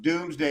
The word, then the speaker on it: Domesday: domes day but it was it's always been pronounced doomsday i was just looking at it earlier and